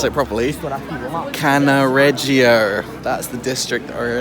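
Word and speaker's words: Cannaregio: so i've just walked two i finally can pronounce it properly canna reggio that's the district that we're in at the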